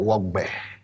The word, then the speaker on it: Wogb3: Before we get into anything, I want to talk about Wogb3. I hope I pronounced it right.